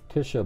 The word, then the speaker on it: Tjhisha: name is I think Tisha ball with a silent J you know tjh three consonant in a row pretty strange oh see